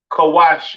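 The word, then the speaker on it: כּוּשׁ: Cush, pronounced Kawash in the Hebrew, all right?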